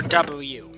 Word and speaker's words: W: party started first up kamen rider double or w it depends on how you pronounce it but most of the time it's double um this is the